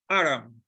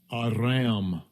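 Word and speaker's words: אֲרָם: Aram, this is the pronunciation. Strong's H758, Aram, Aram, and the form just below that, Aram, Aram.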